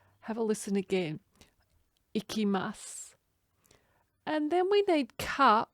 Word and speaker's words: いきます: place for going and we don't pronounce the u on the end of that word have a listen again ikimasu and then we need